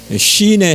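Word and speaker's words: שין: 히브리어에는 영어로 SH에 해당하는 그러한 복합 자음이라고나 할까요? 그런 쉬 발음이 나는 그런 알파벳이 따로 있습니다. 그래서 영어에도 없고 한국말에도 따로 없는데 복합해서 나오는데 히브리어에는 쉬라는 그 단어가 있습니다. 그게 이제 쉰이라고 하는데 쉰타우 이제 다음 주에 타우가 마지막이 되는데요.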